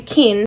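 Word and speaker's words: qin: And then on the back, there's the kin, or I think is how you pronounce it, which is the musical instrument that our main character plays in this story.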